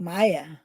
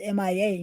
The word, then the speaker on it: Mia: Mia. You sometimes say it like Maya. Maya. That is how I hear it anyway. And it's just Mia.